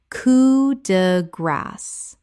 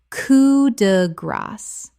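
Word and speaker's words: coup de grâce: Common mispronunciation, coo de grace. Correct pronunciation, coo de grace.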